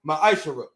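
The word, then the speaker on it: מעשר: it means 10th in hebrew and it's pronounced maisha 10 of every penny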